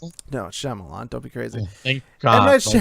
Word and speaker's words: Shyamalan: Is that how you pronounce it? No, Shyamalan.